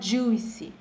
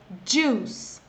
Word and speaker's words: juice: Só para pegar no pé, aqui, gente, tem um i no meio, mas ele não é pronunciado. Você não pode falar juicy, é juice.